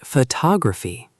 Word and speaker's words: photography: First, focus on word stress. In English, we stress certain syllables. For example, the word photograph and photography have different stress patterns. That's right. Photograph, but photography. The stress moves.